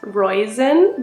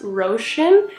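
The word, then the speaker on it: Róisín: o i s i n which I would pronounce as royen but it's actually pronounced ran and I still misspell it all the time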